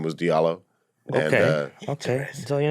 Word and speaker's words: Diallo: actually wanna ask about diallo the origin of it you know uh it should be pronounced jalo it's a west african name my parents just you